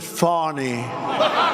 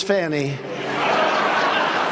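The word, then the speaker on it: Fani: It's F-A-N-I. She pronounces it Fawny. Faw. I don't see it. To me, it's Fannie.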